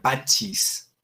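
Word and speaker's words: pacis: Pax, pachis, se pronunciaría pachis.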